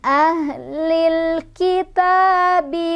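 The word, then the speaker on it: أَهْلِ الْكِتَابِ: Cara bacanya, lamnya dibaca jelas atau diizharkan.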